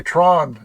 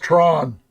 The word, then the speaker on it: Tran: Tran, but pronounced by Tron.